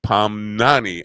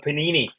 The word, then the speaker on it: Pamnani: Well, but at least you didn't pronounce it like the bread. At least you didn't call him. You nailed it. You actually nailed it. And he's right. There's so many people who've called it panini.